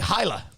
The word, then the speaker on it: Hylia: I'm going to Lake Hyla. Yeah, but which I think it's pronounced Hylia.